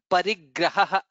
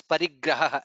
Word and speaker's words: परिग्रहः: Only small input is here Parigraha. So which is ha and then followed by visarga. So which is Parigraha. That's what you need to be pronouncing.